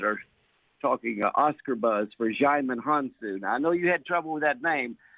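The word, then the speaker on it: Djimon Hounsou: talking Oscar buzz for xyman Hanson I know you had trouble with that name but that D is silent so you just say xiamen hansu and uh he's one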